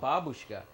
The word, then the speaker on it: babushka: grandmother is babushka babushka the accent is on the first syllable babushka but someone decided to